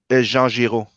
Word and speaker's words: Jean Giraud: Jean Giraud.